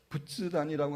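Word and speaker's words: 仏壇: 때문에 그런 일이 있습니다 부츠단이라고 하는 것은 불단이라는 말을 일본식 발음인데 이제 집안에 부처나 자기의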